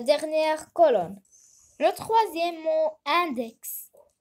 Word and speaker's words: index: Le troisième mot, index. Ici, X se prononce comme boxeur. On va faire une croix dans la deuxième colonne.